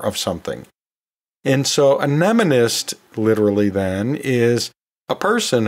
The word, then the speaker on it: mnemonist: And yeah, I sometimes find myself pronouncing it nemonist sometimes. Actually, that does show up occasionally and dictionaries, but it's most often pronounced mnemonist or mnemonist. I sometimes mistakenly use nematist instead of mnemonist.